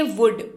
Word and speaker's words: would: अगला शब्द है वुड, WOULD, लेकिन यहां पर भी L जो है वो साइलेंट रहेगा। लिखते वक्त लिखेंगे, बोलते वक्त नहीं बोलेंगे, उच्चारण करेंगे वुड।